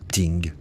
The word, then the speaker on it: Ting: ou, plus communément, devant le Ting, prononcé Ting, local.